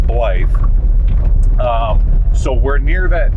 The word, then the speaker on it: Blythe: ble Cal blle California and no it's not pronounced bla even though it's even though it's spelled that way it's pronounced blly um so we're near that town and these